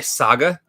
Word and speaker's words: saga: So did you just say saga? It's pronounced saga. Saga. So, come on, give it some class.